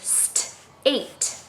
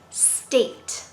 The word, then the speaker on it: state: There's also the letter partner at in the middle, but there's that silent E. And he wants the vowel to say his name, A. So it's state, state, state.